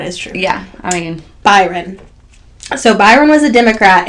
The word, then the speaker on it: Byron: It's Byron.